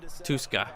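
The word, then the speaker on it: Tuszka: Okay, the Z is silent. Tuska.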